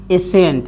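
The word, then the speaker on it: ascent: यस के बाद आया सी हमेशा साइलेंट होता है। जैसे में देखिए एसेंट, यानी एसेंट, एसेंट, यानी AS से सी का हो जी साइलेंट हो जाएगा, तो एसेंट, एसेंट।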